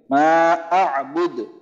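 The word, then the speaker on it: مَا أَعْبُدُ: এখানে অনেকে এই আইনটাকে কিন্তু স্কিপ করে চলে যায়, মানে আইনের উচ্চারণ করে না, কিন্তু আইনের উচ্চারণটা এখানে করতে হবে, খেয়াল করে করতে হবে, মা আবুদ।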